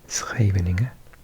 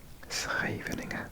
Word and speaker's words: Scheveningen: If I'm saying it correctly, and I did ask locals for help with this word, I've been many times, this is called Scheveningen. Scheveningen, so it's very difficult to say, and it's a stunning